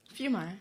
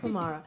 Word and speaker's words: Fiumara: This is Isabella, and tonight we have Diana Fiumara. Did I say it right? Fiumara. Yeah, Fiumara.